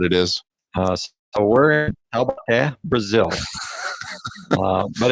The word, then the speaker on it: Taubaté: So we're in Taubaté, Brazil, but it's easy to say the Paraíba Valley.